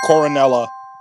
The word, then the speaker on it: Coronella: Yeah, Coronella.